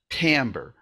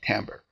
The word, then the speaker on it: timbre: about chords within the sound and it's called tamber we spell it t i m b r e but uh we pronounce it with a a tamber it's also commonly called the tone of the